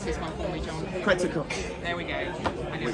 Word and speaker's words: Quetzalcoatl: And, Now you have to pronounce this one for me, John. Quetzalcoatl, There we go.